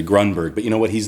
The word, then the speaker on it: Grunberg: group hey Greg Berton he pronounce my last name Gruenberg it's actually Grunberg but you know what